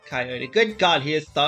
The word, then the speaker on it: Coyote: Chaka, that's Coyote Shirakurai, right? Actually, it's pronounced Coyote.